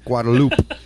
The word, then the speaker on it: Guadalupe: against the mighty Guadalupe guadaloop I think it's just guadaloop as I don't know I've heard it both ways I thinkup sounds better it does I think you could actually pronounce it either way but anyhow